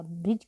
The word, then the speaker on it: bridge: इसको ब्रिज नहीं पढ़ते हैं, डी साइलेंट रहता है।